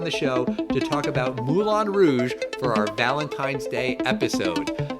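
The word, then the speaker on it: Moulin Rouge: going to be doing Mulan Rouge I guess is how you should pronounce it yes that's the French way to pronounce it I'm it's exactly like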